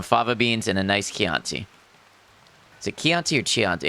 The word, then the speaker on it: Chianti: Italian CH is K.